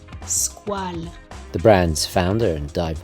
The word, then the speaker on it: Squale: Yes, it's pronounced Squale, the French for shark. Squale, Squale.